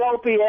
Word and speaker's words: Opie: Why is it so difficult to say the name Opie? Opie E. How simple can that be? I said Opie. Anthony. Even the first two letters say his name.